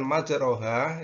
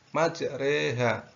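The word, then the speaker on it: مجراها: Jadi untuk kalimat atau tulisan majroha itu dibaca majreha.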